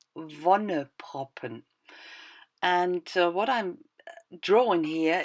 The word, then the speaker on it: Wonneproppen: The pronunciation is Wonneproppen.